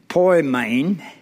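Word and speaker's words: ποιμήν: The word pastor comes from the Greek word pronounced poimen, and was translated shepherd 18 times in the scriptures.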